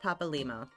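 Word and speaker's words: Papalymo: do not forget uh his name is pronounced Papa Lio so like you break it into two words you got Papa and limo so a lot of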